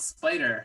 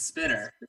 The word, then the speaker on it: Spitter: It's not Spider, it's Spitter. It's Spitter.